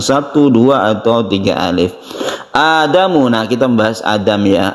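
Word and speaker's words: آدم: Adam ini A-nya ini disebut dengan mad badal ya. Bacanya satu alif, mad badal, badal artinya ganti, yang asalnya itu adalah adamu menjadi adamu, kita panjangkan a-nya.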